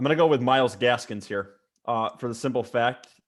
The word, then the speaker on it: Gaskin: So am I allowed to pick Myles Gaskins here? I like Only it. if you say his name right. Myles Gaskins. No, Gaskins. There's no Gaskin. S. There's no S at the end.